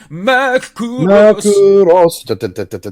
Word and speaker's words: Macross: you got to say it like the Japanese opening. Macross.